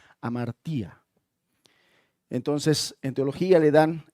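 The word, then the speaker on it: hamartia: hecho de que pecado en griego quiere decir se se escribe o se pronuncia amartía.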